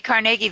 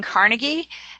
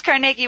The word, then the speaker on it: Carnegie: lasting impact on Carnegie and if I say Carnegie that's actually the proper pronunciation I grew up saying Carnegie and as most people did so if I